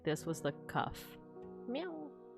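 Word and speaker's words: qaf: And kaf in classical Arabic, a voiceless uvular stop or plosive. This is a K that is pronounced at the soft palate at the back of the mouth rather than on the hard palate further forward, as a K normally is.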